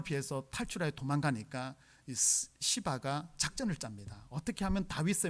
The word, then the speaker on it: 시바: 종의 이름이 뭐냐 며 여러분 발음을 잘 해야 되는데 잘 못하며 이름이 시바 것 은 유 씨